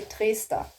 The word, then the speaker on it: Trester: Trester. In German you say Trester oder Trester, depending on, you know, the dialect. How do I say Trester?